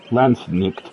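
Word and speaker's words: Landsknecht: may yes the L nectar singular L neck pronounced lannick also rendered as L neck or l quet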